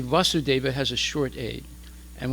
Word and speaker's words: Vasudeva: and when we say Vasudeva has a short aid and when we say Vasudeva it means Krishna his son with a long a o Lord o my